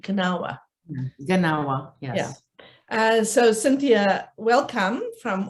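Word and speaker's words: Gnawa: the uh her book gennawa identity through music and visual culture is that the right pronunciation do you pronounce the g kanawa yeah so cynthia welcome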